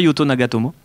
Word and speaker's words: Yuto Nagatomo: noir tout à l'heure tu n'as pas été bon sur la prononciation japonaise dis-moi hiroki sac elle dit moi yuto nagatomo pas mal pas mal